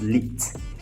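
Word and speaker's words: Lied: the the meaning of lead the word is pronounced lit it's po leader or count as leader yes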